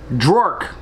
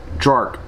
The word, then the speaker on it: Draurk: very strange name too one that i can hardly pronounce drork that's right d-r-a-u-r-k jork he uh clearly looks